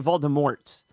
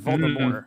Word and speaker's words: Voldemort: that last 20 seconds he didn't say Voldemort he said for me more that's right silent in case nobody knew